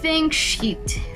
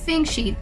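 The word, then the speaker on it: Fingscheidt: able to pronounce nora think sheet think sheet thinking sheet is right think sheet f i n g s c h d think sheet yanora think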